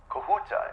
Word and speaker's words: Kahuta: Kahuta, is that the correct pronunciation?